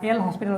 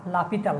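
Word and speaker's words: L'Hôpital: হসপিটাল বা লা হসপিটাল, এটার উচ্চারণটা যদিও আমরা আমাদের ভারতীয় উপমহাদেশের যারা আছি তারা এল হসপিটাল উচ্চারণ করি, কিন্তু যারা ডাচ যারা আছে তারা উচ্চারণ করে লাপিতাল। হ্যাঁ, উচ্চারণটা লাপিতাল, কিন্তু আমাদের দেশে হয়ে গেছে এল হসপিটাল।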